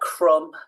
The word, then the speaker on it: crumb: so not um so like crumb lamb ending in a b where we wouldn't think there would be one and that's silent h